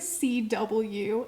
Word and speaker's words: CW: Her name is CW. And they even say it like the network.